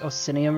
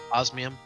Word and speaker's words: osmium: It was, like, Osinium or whatever. Is that what you guys were looking for? Osmium.